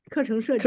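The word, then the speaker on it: 课程设计: It's a 课程设计.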